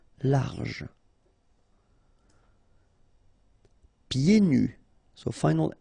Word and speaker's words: large: Don't insist on the final E. Large.